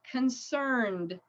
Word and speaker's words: concerned: right the next one concerned so concern so it's a D sound the doctor was concerned